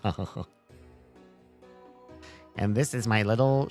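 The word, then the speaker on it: Seamus: Pronounced Sham.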